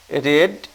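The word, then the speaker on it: read: আরেকটা লক্ষণীয়, এখন কিন্তু রিড না, এখন রেড। অর্থাৎ রিডের প্রেজেন্ট পাস্ট আর পাস্ট পার্টিসিপল একই, উচ্চারণে পার্থক্য আছে। প্রেজেন্ট ফর্মে যখন থাকবে তখন রিড, পাস্ট আর পাস্ট পার্টিসিপলে রেড, রেড, এটা মনে রেখো।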